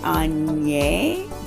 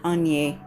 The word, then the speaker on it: Aigner: You could say A-N-A-Y, Aigner, but to remember to carry that N over into the A so that you have the correct pronunciation. So once again, it's Étienne Aigner.